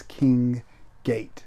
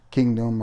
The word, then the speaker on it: King Gate: But it's King Gate. Not Kingdom or any other crazy stuff I pronounced it.